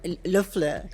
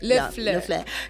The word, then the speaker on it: LeFleur: You see now I've got LeFleur Café. Is that how you say it? LeFleur. LeFleur. Yeah, we've had some issues with that because in French it's supposed to be la fleur.